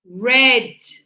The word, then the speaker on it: read: So read red like the color red.